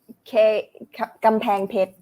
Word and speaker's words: กำแพงเพชร: Is that how you pronounce the province? กำแพงเพชร Kampeng Phet.